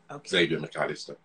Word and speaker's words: Xavier McAllister: easiest thing is to ignore the x at the beginning and just say xavier mccallister save your mcallister okay and if it